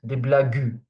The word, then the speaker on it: blagues: Not des blagues. Des blagues. Remember that this U after the G is just here to avoid pronouncing it J, because there is an E after it.